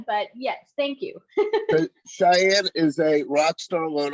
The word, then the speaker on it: Shyanne: So do you go, is it pronounced Shyanne? Correct.